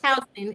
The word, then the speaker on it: Houston: It looks like Houston, but it's pronounced Houston.